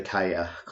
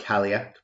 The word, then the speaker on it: Cailleach: um, and it's on the subject the Cailleach or the Cailleach, not Cailleach. That's quite a mispronunciation, which is quite popular amongst anglicised um, culture or yeah peoples.